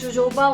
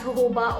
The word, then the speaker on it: jojoba: People do pronounce it as jojoba oil also, but it's known as jojoba oil.